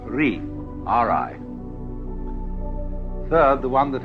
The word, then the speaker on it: Ri: Second, the world that is called Ri, R-I.